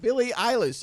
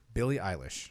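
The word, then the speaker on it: Billie Eilish: who Bobby really doesn't like on the Internet Billy eyeless illis she said Billy English William William eyelash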